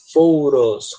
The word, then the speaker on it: photos: Por isso que nesse caso, photos, que tem um T, é comum você pronunciar photos, como se fosse um R.